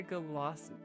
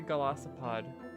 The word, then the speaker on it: Golisopod: Next we got Mega Golisopod.